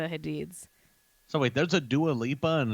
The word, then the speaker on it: Dua Lipa: so wait there's a dualipa and a doula peep oh sorry dua lipa if you're not in the know we call her doula peep because that's how wendy williams pronounced her name oh okay okay fine